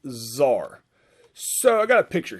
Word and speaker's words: czar: more or less uh it's spelled c-z-a-r like kazaar but it's pronounced zar so i got a